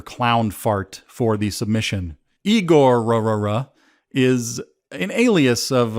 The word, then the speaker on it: Igorrr: week is igor igor that's right like stravinsky but three r's at the end igor i don't know if